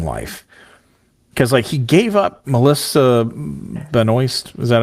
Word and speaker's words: Melissa Benoist: Because he gave up Melissa Benoist.